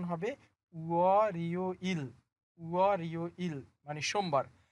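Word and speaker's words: 월요일: তাহলে এই শব্দটার উচ্চারণ হবে উয়া রিও ইল, উয়া রিও ইল মানে সোমবার।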